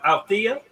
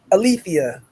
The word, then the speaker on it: Alethea: How you pronounce that? Althea? Alethea. Alethea. Okay. Alethea. Ooh, Yes. okay. It's Greek.